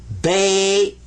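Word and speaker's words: بيت: Sukoon means don't pronounce it, but give it some value anyway. This is bait.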